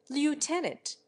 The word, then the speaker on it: lieutenant: the why in induced finally there is lieutenant the Englishman pronounces the first syllable left the American invariably makes it lute white says that the